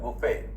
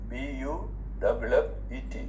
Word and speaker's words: buffet: Then you have buffet, B-U-F-F-E-T, buffet. T is silent.